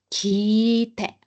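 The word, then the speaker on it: 切って: Entonces, también en japonés se va a alargar, pero la I, kite, kite, ¿bien? Kite, kite. Y por último, cortar. Vamos a cortar el sonido. Kite, porque es doble consonante T.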